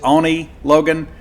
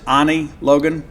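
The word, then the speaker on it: Oni Logan: a handful of albums with he pronounces it Onie Logan we pronounce it Ani Logan uh but I I thought hey Now's the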